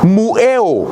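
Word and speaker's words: μυέω: enseñado, es una palabra del griego que se pronuncia mueo. Y esa palabra, mueo, viene de otra raíz.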